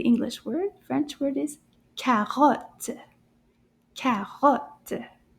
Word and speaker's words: carotte: French word is carotte. Carotte. How many syllables? Carotte. Deux. Deux syllabes dans le mot carotte.